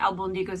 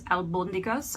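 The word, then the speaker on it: albóndigas: think I pronounced it it's not Alba Nico's it's albondigas I believe the accent is on the oh so any of my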